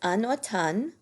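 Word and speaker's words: automne: in the fall is Anan Anan and the letter M is silent in Anan in the spring is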